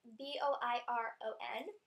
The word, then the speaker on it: Boiron: I use these Boiron, I think that's how you pronounce it. It's Boiron.